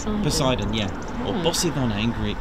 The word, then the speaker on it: Poseidon: I think it's like why did I go to pronounce it like poison pois it's it's it's close yes so Poseidon yeah or BOS in